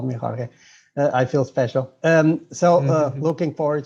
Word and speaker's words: Jorge: It's actually George, because I'm originally from Portugal, so we pronounce the J like in English, not like in Spanish.